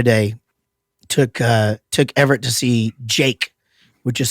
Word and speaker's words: JVKE: It was, we just went to a show the other day, took Everett to see Jake, which is spelled JVKE.